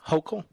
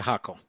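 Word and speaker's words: Hochul: does anybody know who's kathy hokel or is it huckle anybody know who cathy hockle hulkel is it's spelled h-o-c-h-u-l now you're all running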